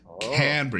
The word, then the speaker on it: Canberra: Little Brizzy and Canberra. Canberra? Canberra. You got to try and make it one syllable.